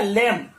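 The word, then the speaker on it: lamb: अगला देखिए एल ए एम बी, एल ए एम बी क्या होगा, लेम, यहां लिख देते हैं लेम, ये होगा।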